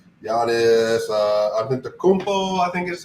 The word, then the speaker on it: Antetokounmpo: Giannis Antetokounmpo, I think is how you pronounce his name. They have Giannis Antetokounmpo, Drew Holiday, Chris Middleton, Brook Lopez.